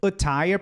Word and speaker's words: attire: Attire, porque a sílaba forte está aqui. Attire, a sílaba forte está no T.